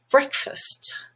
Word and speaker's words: breakfast: band becomes but husband fast black ah but in the word breakfast wreck is red and stressed but fast now is unstressed and becomes first breakfast and think of the